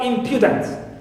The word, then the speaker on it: impudent: infinite in is stressed and also impudent M here also is stressed clear so these are